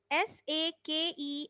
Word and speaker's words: sake: So SA is pronounced like fa in father, and KE is pronounced like way, means K.